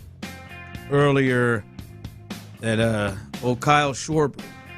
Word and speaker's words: Schwarber: Tyler uh reminded me um earlier that uh Oh, Kyle Schwarber. Sh. Shorbert. You literally said it right the first time. Yeah. Schwarber. Shorbber.